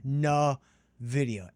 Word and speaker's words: NVIDIA: And then lastly, let's say we go to everybody's favorite, everybody's darling, NVIDIA, which again is pronounced NVIDIA, NVDA.